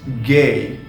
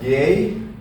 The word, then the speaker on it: G: as F moving on to G which becomes gay in German and obviously yes you can pronounce it as gay in German this is gay the letter g in German uh it is gay okay this is gay